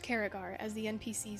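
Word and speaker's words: Cerrigar: She runs through Caragar. Turns out it is not Saragar. It is indeed pronounced Caragar, as the NPCs said in the seasonal quest.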